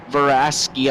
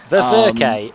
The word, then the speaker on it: Ververke: Sherney up 11 positions now, so he's going to try and chase down Roy Veraski, I believe is how you pronounce that name. Ververke. It's Tyler. Roy Ververke.